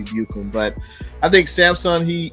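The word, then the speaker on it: Ebukam: 49ers can release samsung i know his name is pronounced ebucom i just like to say buchum but i think samsung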